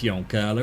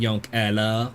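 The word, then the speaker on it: Yoncalla: plan young Allah and they probably would not want me to pronounce it that way young Carla City in Douglas County Oregon United States it's young color it's not young Ella there's one picture it's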